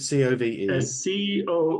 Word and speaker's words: Cobh: Is it C-O-V-E? C-O-B-H, actually. It's an Irish word, yeah. C-O-B-H, but it's pronounced Cove with a Cove.